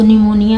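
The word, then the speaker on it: pneumonia: first letter साइलें तोय इसको निमोनिया में पी जो है य लेटर है और फर्स्ट लेटर साइलेंट है इसमें देखते हैं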